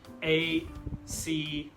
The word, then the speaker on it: across: If you see the schwa symbol here, you know that A is pronounced as so the whole word would be across, across.